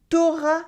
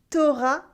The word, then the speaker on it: t'auras: Many people would go one step further though and cut the U in tu when it comes before the vowel A. This way it becomes t'auras le temps de dîner avant le spectacle? T'auras le temps de dîner avant le spectacle?